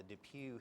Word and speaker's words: DePuy: like to talk about are it's called the depuy hip product and this is an issue that